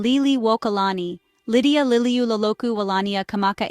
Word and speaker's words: Liliʻuokalani: Empress Lily Wokalani Hawaiian pronunciation Liy Walani Lydia Liu Loku Wania Kamaka Aha September 2nd